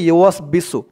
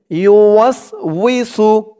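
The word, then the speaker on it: يُوَسْوِسُ: الوسواس الخناس الذي يوسوس এখানে অনেকে পেস লাগিয়ে দেয়, এখানে বলে আল্লাযী ইউওয়াসবিসু, উচ্চারণটা হবে ইউওয়াসউইসু, অনেকে অনেক রকম করে বলে, তো সঠিক উচ্চারণ হচ্ছে আল্লাযী ইউওয়াসউইসু ইউওয়াসউইসু ফি সুদুরিন নাস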